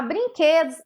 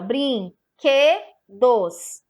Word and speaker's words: brinquedo: o som mais forte a brinquedo tem três sílabas brinquedo a sílaba forte é aquela que você vai falar com mais intensidade na hora que você falar sobre é um som fechado ao brin que dos brinquedos